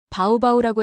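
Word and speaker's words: Baubau: 현지인들이 도시 이름을 부를 때였죠. 바우바우라고 했습니다. 저는 처음엔 바우를 2번 반복하는 줄 알았어요. 그런데 아니었습니다. 이건 양순 마찰음이었죠. 입술을 다물지 않고 공기를 내보내며 내는 소리예요. 비읍과 우 사이 어딘가에 있는 발음입니다. 세계적으로 매우 희귀한 음소죠.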